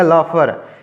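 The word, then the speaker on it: laughter: को रोक नहीं पाया हंसी लाफ्टर नहीं पढ़ेंगे क्योंकि यहां पर टी जो है साइलेंट है तो हो जाएगा लफर यानी वह अपने हंसी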